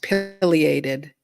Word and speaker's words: pileated: It's pronounced pileated. Pileated?